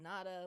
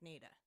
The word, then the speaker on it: Nada: I said, I would think naturally this would be called Nada, like de Nada. But from what I know about the Appalachian area, is that towns are never pronounced the way you think there. So it's probably pronounced with a long A like Nada.